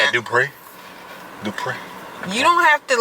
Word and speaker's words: Dupree: name dupree it's prince it's spelled dupree but it's pronounced and then i tell them it's do pray so do pray every day but you be saying